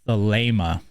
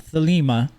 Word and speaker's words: Thelema: This is the long A sound that you're hearing in this. Then you have mu, and then you have alpha. So Thelema.